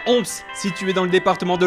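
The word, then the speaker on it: Homps: Pour visiter, on visite Ons. Ons? Comment tu prononces? Moi il me semble que c'est Ons, mais il faudrait demander. C'est Omps. C'est Ons, madame? Ons. D'accord, Ons. Et oui, c'est bien Omps, situé dans le département de l'Aude.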